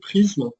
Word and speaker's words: PRZM: Rapidité de décodage impressionnante avec une technologie qu'on appelle le PRZM, on prononce prisme, qui va permettre de bufferiser des images et ainsi d'avoir un traitement, une vitesse de lecture inégalée.